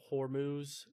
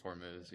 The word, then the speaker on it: Hormuz: happen with Iran and that the Strait of Hormuz or however you pronounce it I think it's Hormuz Hormuz uh it was getting reopened so that we can have more trade.